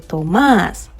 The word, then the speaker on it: Tomás: Because there's an accent on the A. So this time you don't say it like the way you say Thomas in English. This time you're going to say Tomás.